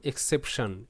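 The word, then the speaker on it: exception: টি আই ও এন এটার উচ্চারণ হবে সান। দেখো সন্নয় আর সান নয় মাঝামাঝি একটা সাউন্ড সান। বাকি শব্দগুলো দেখো অবশ্যই বুঝতে পারবে। তো এক্স সেশন এক্সেপশন এক্সেপশন শব্দের অর্থ ব্যতিক্রম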